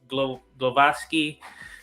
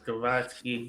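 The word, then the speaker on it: Głowacki: Poor, but Just This, think of Wayne Gretzky. You know, his name is that's the same way you pronounce those names that oh yeah, are yeah. with CKI in the end.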